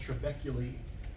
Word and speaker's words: trabeculae: speculated network of trabeculae it's pronounced trabeculae when you look at